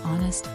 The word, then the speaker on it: honest: We say a honest because even though the word starts with a consonant, h is silent.